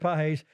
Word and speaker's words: Pages: But if Roberts doesn't sub Pages, yes, it's pronounced Pages, in center field in the middle of the 10th, the Blue Jays are having a parade.